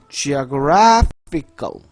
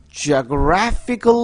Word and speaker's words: geographical: 지리학적인 위치를 얘기할 때에는 형용사가 있기 때문에 이게 발음이 geo에 강세가 있지 않아요. 뒤에 GRA 그 다음 모음에 있습니다.